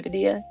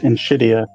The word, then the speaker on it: Nvidia: saying it wrong right how do you actually say it in in Nvidia it's um pronounced in shidia perfect okay so there's also